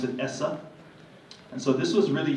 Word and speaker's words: ESSA: And we like to say it's ESSA, but pronounce it ESSA.